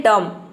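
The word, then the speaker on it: dumb: मतलब होता है गूंगा अब देखिए जो बी लेटर है इसका दूसरा रूल है कि यह कब साइलेंट रहता है तो देखिए यदि किसी वद में टी से पहले अगर बी आ जाता है तो वहां पे बी साइलेंट रहता है या फिर आप यह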